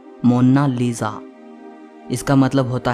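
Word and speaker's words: Monna Lisa: लेकिन इटालियन में इसकी करेक्ट प्रोनाउंसिएशन है मोनालिसा।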